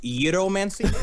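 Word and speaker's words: gyromancy: love gyro man see correctly pronounced gyro man see gyro man state we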